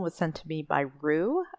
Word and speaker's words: Roux: sent to me by Rue I believe is how you pronounce their name r-o-u-x and uh I asked